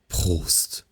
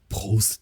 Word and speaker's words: Prost: Basically, you can have much fun just like practicing the like R sound, right? Like in like Prost.